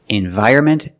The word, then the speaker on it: environment: So remember, the way Americans pronounce these two words, environment and government. If you want to sound more natural when speaking, don't pronounce the N. Environment and government.